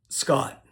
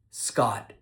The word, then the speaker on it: Scott: The T sound at the end of my name is called a stop T.